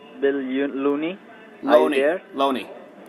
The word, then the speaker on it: Loney: Loney. It's pronounced Loney.